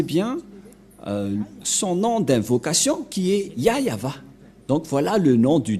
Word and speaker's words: Yahvah: bien que c'est bien son nom qui est yayava donc voilà le nom du dieu d'Abraham il